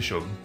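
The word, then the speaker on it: Seam: à propos de toi mon nom et prononcé choc et ceci ma petite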